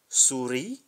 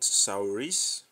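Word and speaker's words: souris: is e in English Suri and not sauris Suri when F we have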